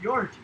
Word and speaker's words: Georgie: And Angel says there is this TA I have that's named Georgie, but it's pronounced Yorgie.